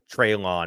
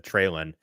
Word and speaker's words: Treylon: PK is going to backhand you for the way you just pronounced Treylon instead of Treylon.